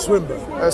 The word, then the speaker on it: Swinburne: All of those individuals like Plantinga and Swinburne and it's called Swinburne. Swinburne, whatever. Sorry, Swinburne. It's not his called. It's just a pronunciation different.